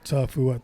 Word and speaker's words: Tafua: throws the scent off unless you know my last name Tofua but even that it's like only Tafua three syllables but majority of someone